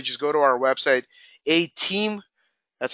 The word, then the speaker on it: Atiim: you can literally just go to our website a team that's how it's pronounced a team like Nintendo Wii with two